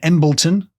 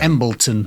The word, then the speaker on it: Embleton: born in 1849 in embleton which I assume is pronounced it's just one of those places where there's no way there's no way it's pronounced like that no one can know emilton emilton North umberland and he